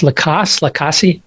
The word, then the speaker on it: Lacasse: But we can, touch on, again, his name is escaping me now, the boyfriend, Jeff Lacasse.